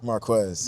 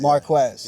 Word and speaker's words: Marques: That's how we pronounce it. Marquez. Marquez.